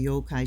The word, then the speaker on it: yokai: Okay, those who are not familiar with the yo-kai tend, and I say yokai because it's like a two syllable thing.